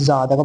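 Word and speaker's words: ضاد: জা, জা, এটা হবে জা, দেখো বাংলায় লেখা আছে জা, এটা হবে জা।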